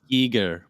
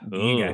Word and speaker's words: Giger: I think it's Giger, but Giger?